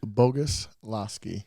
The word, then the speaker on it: Boguslawski: That would be Boguslawski. Bogus, and then La. Lasky.